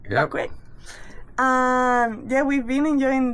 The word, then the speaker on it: Bequia: How do you pronounce it? Bequia, yeah. Bequia.